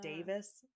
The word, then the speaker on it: Davies: the Taskmaster guy, but it's spelled like Davies. But when he says it, he's also Welsh, and he says it sounds more like Davis.